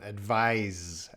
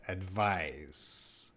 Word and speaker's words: advise: s but down here it's an s with a z sound advise advise okay so this uh